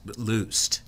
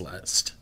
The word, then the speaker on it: Lust: is really my name it's German it actually is looed but it was always pronounced lust in America yeah how many generations